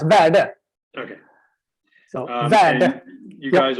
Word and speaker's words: Verde: Well, you can say it like it sounds, Verde.